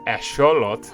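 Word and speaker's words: axolotl: box turtles okay uh asholot that's how you actually pronounce it uh xenopus frogs lots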